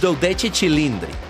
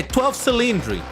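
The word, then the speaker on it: Dodici Cilindri: You are supposed to pronounce it as doi chilindri cuz it's it's in Italian. People will mock you if you say 12 cylindric.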